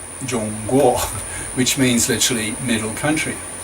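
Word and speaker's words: 中国: which is how the Chinese name their country, Zhongguo, pronounced Zhongguo, which means literally middle country, with the implication that all its many neighbouring countries were barbarians, which they were.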